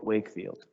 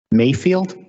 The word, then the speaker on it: Wakefield: Wakefield. So it's with a PH, Wakefield. Mayfield? Wakefield. It's hard to hear you, sir. Wakefield, like Cushman and Wakefield.